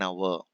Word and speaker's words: hour: Price, speed, 5 a meter, rupees 5 a meter, 60 kilometers an hour. 60 kilometers an hour. See, hour H is silent, so we are using an.